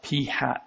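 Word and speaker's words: p̂: The book sometimes uses this p with a circumflex over it to represent the sample percentage. That's pronounced p hat, by the way.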